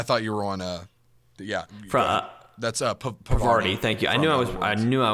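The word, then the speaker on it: Parvati: Ashley Birch as Pravita Holcomb. Jesse. Huh? Oh, wait, no, I see. I thought you were on, that's Pravarti.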